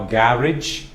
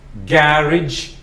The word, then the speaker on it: garage: you park your car some people pronounce it as garage I love to call it carriage so when I give these words stop the video pronounce the words on your own then listen again so garage my favorite way of saying it you can also